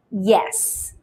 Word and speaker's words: yes: Some people tend to drop the y sound and then say s, which is wrong, which is incorrect. So let's pronounce this word with the y sound correctly, which is yes.